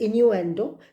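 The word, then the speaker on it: innuendo: इसकी स्पेलिंग आप लिखेंगे I double N यू ई एन do that is इनू एंडो जिसको आप हिंदी में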